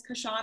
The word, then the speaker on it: Kyshona: have a special guest miss kashana am i saying your name properly all right thank you that was perfect cause shawna yeah